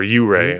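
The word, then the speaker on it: Ouray: where to visit and there's oo ray right next to it or you ray i think is how they say it o-u-r-a-y it's the alps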